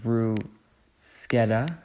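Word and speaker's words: bruschetta: choose mushrooms here we go pick aide amazing brushetta which is actually a from what I've learned pronounced Brew sketa but that sounds cringy so um calamari fries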